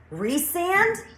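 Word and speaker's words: Rhysand: mispronounced my character's names but resand I will never read that name as resand it is rye sand I can't help it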